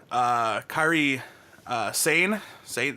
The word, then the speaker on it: Kairi Sane: The original plan was for the final to be Kairi Sane, right?